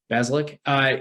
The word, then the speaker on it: Bazelak: Their quarterback, Connor Bazelak, I believe is how you pronounce his last name. Yep. Bazelak.